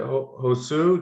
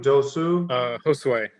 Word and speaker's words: Josue: So is it, how do you say, is it Josu? Josue. Josue, how you doing?